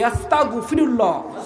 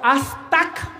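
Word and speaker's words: أستغفر الله: আমরা আসুন তওবা করি আস্তাগফিরুল্লাহ আস্তাগফিরুল্লাহ আস্তাক হবে না কি উচ্চারণ করতে হবে আরবি ঠিকমত উচ্চারণ না করলে আল্লাহ শুনবে না শুনবে আমার নাম হচ্ছে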